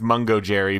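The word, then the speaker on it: Mungojerrie: pronounced I have confirmed the cat's name is pronounced MUNGO JERRY because when you go to the MUNGO JERRY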